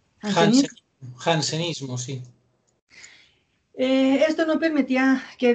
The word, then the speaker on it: jansenismo: iglesia que se llama como jansenismo así se pronuncia el jansenismo sí esto no permitía que dios fuera visto